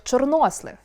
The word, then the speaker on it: чорнослив: Звідки беруться такі незвичні наголоси, як чорнОслив?